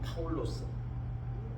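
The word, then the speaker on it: Παῦλος: 파울로스, 원래 발음은 파울로스, 우리 성경 번역을 바울로 그렇게 했습니다.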